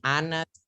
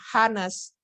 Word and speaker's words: honest: An honest person. Ini cara bacanya bukan honest, tapi a. Ya, haknya mati.